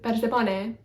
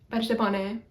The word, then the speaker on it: Persephone: Persephone is Persephone, Persephone. I want to say Persephone, but it's like a short, the omicron is a short O, so it's not like